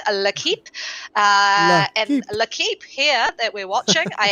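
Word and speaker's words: L'Équipe: wrong or i have it's not liquid it's la keep so uh by new zealand accent where i'm used to staying at lequip and i've totally butchered that one so i will go with la keep uh i do speak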